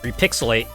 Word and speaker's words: Repixel8: See, developed by Repixelate, and I have to be ashamed to admit that it's spelled REPIXEL8, and I did not realize what the pun was until like 10 minutes ago.